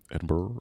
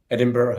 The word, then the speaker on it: Edinburgh: Edinburgh. Edinburgh, Edinburgh.